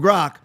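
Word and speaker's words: Grok: Finally saying it right. Aaron, I finally stopped saying like Grank like Gronowski. So, anyway, from from Grock.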